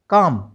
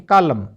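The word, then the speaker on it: calm: सी ए एल एम काम ना कि कालम ठीक है बी ए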